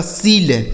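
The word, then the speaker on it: shield: यह लिखा गया आपका सील्ड, ठीक है, एस एच आई ई एल डी सील्ड।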